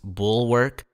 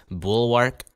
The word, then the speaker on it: Bulwark: video starts the title of this game is pronounced bull workk but for Simplicity and because it's funny I'm going to be referring to it as bullwark so uh just be prepared for me mispronouncing